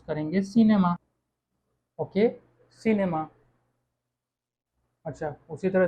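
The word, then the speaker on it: cinéma: Okay, इसको हम pronounce कैसे करेंगे हम जानते ही हैं, इसको हम प्रोनाउंस करेंगे सिनेमा।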